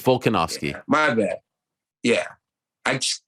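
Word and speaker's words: Volkanovski: because I said velocity I think I said his name wrong too yeah I think you did it's volcanovsky my bad yeah I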